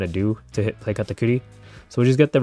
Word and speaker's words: Katakuri: Hey, I get to say katakuri even though I'm not playing yellow and pronounce it the correct way.